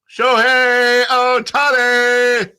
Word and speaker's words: Shohei Ohtani: Shohei Ohtani, which is the same syllables as "show me the money," right?